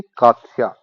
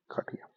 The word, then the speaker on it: काठिया: तो here the answer will be काथिया, काथिया, ये गलत स्पेलिंग है, answer will be this, काठिया। Course लिखा है यहाँ पे, गलत लिखा हुआ है, वैसे ये आंसर है काठिया।